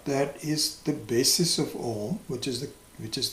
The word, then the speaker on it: om: in the pronunciation of om it is not appropriate to pronounce these three segments separately which is done by